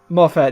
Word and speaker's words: Moffat: It's like watching a modern season of Doctor Who during the how do you pronounce his name? Moffat? Moffat, yeah, the Moffat era, where it's just like, we're implying something important will happen, but will it?